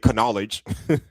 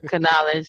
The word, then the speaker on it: knowledge: No, or knowledge, same thing. You don't say knowledge. Knowledge.